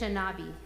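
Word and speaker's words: Anishinaabe: it how do you say that again Anish anishinabi thank you who shared the Helena Valley as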